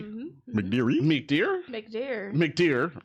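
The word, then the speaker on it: McDeere: McDeary? McDear? McDear. McDear. Just because it ends in an E, it's not McDeary. You don't have to it's pronounce it. dear. Whatever. English language has a lot of silent E's.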